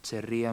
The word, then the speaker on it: Cherríe: chicanas glorian zaldúa y cherr cherr se pronuncia cherr moraga Ese es el título